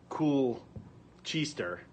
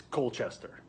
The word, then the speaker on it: Colchester: if you're looking how to pronounce this connecticut town it's not cool cheesester it's colchester or if you're from boston it's colchester uh